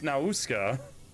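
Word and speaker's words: Nausicaä: Oh, I feel so, it's Nausicaa. And it hurts every time someone says the English pronunciation that they used in the movie.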